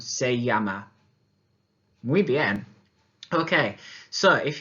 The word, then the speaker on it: se llama: Now notice again in my pronunciation, rather than saying se llama, which you might think is it in English, it needs to be the y sound, se llama.